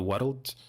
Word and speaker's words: world: My accent, I'm from Scotland, and we pronounce world with 2 syllables. Okay, English people will say world. I say world. This RL spelling often, if I say the word girl, is the same. I create an extra syllable.